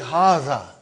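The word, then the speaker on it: هذا: Haza. See, it is pronounced like Haza. But this alif is not written.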